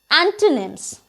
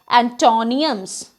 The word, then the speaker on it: antonym: of the previous word antonyms and we basically pronounce it as antoniums but it is antonym in actual our next word is